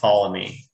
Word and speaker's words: Ptolemy: Ptolemy. Ptolemy. Yes. Yeah, it's like the P is silent. There's no P. It's just Ptolemy.